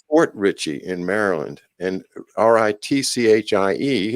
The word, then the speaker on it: Ritchie: And Ritchie is pronounced the same way as Ricci to us Americans.